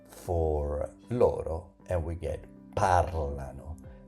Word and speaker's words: parlano: loro, and we get parlano. Pay attention to that pronunciation. Parlano.